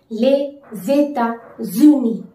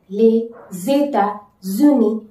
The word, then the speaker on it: les États-Unis: Les États-Unis, les États-Unis, les États-Unis. In like pronouncing this term, you have to focus on like connecting the vowel and the consonant sound.